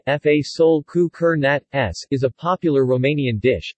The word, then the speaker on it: Fasole cu cârnați: Romanian pronunciation, Fasole cu cârnați, is a popular Romanian dish, consisting of baked beans and sausages.